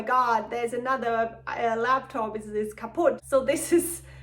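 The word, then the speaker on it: kaputt: We write this a bit differently, so we spell it with 2 T, compared to in the US it's only 1 T. However, in both languages it's the same pronunciation, kaput.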